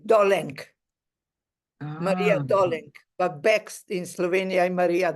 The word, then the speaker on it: Dolenc: every time I say doik does it yeah no well no in my own language Slovenian is doin here in Australia they call me because the last one is c k do Maria doing but back in Slovenia